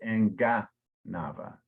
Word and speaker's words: enganava: And I'm pulling, but you said Enganava, but it's Enganava. Enganava. Yeah, so the hard G Enganava.